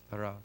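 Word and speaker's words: יראה: It's a much easier word to pronounce. Yirah.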